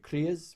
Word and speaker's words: kriya: There's a kriya for everything, and you'll find ones for depression, for for anxiety, for releasing fear, for sadness.